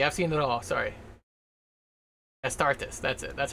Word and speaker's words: Astartes: Like, there's like a fan-made video called Aristotis or something like that. I can't remember how you pronounce it.